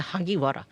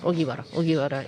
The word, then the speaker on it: Ogiwara: One time that I read that the Hagiwara, that was a misunderstanding. Ogiwara is the correct name.